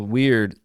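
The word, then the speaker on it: wyrd: So So weird and it's it sounds like I'm saying that it's strange or weird and that's how it's pronounced, but it's spelled W Y R D.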